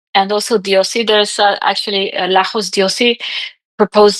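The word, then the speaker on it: Diósi: Uh, Diosi is D I O S I. And it has an accent um I think in the O.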